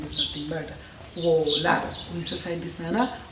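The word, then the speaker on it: Wöhler: Here R is silent letter. So Friedrich Wohler, he is the first scientist.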